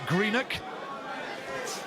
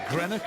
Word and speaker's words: Greenock: John Simpson, who comes from Greenock, not Greenock, as he likes to point out. He said, let's have the Scottish pronunciation.